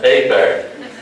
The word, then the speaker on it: Hebert: well, I guess Chad Hebert of McNairy Central will be number one. I say, Dars, that's A-Bear. A-T-B-E-R-T, that's spelled A-Bear.